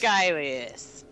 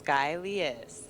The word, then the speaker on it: Skylias: Skylias. Yes, that's you pronounced it right. Skylias? Yeah, Skylias.